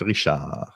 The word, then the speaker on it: Richard: that i think for pronouncing my last name correctly i am canadian french richard cool you never know